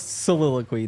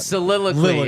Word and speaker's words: soliloquy: Also, it's soliloquy, not soliloquy. Yeah, it's not willoquy.